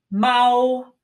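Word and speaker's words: 猫: to go our next animal is the cat pronounced Mao Mao now the piece above the field that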